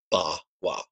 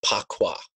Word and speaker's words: Bagua: Now, in the Wade Giles romanization, Bagua is spelled P-A-K-U-A, but this is pronounced Ba-wa. It's a quirk of the romanization. They had spelled it P-A-Q-U-A, as if it was Pakwa, which I've heard, you know, as a common mispronunciation by people who don't actually know how to say the name correctly.